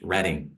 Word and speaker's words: Reading: is actually referenced on the Monopoly board spelled reading pronounced reading Reading Pennsylvania and it's one of the railroads